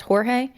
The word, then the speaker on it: Jorge: named Sarah Boon stating that her boyfriend, 42year-old Jorge Torres Jr., was dead in their apartment. And I just want to say that his actual name is Jorge. It's pronounced Jorge, but he preferred the English pronunciation of George.